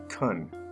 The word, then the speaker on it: can: tricks in this case the word can is mostly pronounced cun number one ability practice